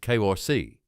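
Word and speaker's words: کرسی: In 18th century Iran, households gathered around a heated table called a cosi pronounced kori.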